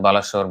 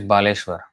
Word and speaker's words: Baleshwar: um not at the station but very near to the station in Baleshwar but the way it is pronounced now is Balashur Balashwar but actually it's Baleshwar so there is a railway station named Baleshwar